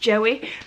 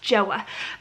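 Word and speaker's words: Joie: It looks like it's pronounced Joey. The lady in Mother Care actually said no, it's pronounced Joa.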